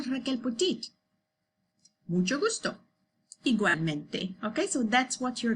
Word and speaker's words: igualmente: When you say igual, it's like two parts of the word, okay? Igual and then mente, okay? The tip of your tongue to pronounce L goes to the roof of your mouth, okay?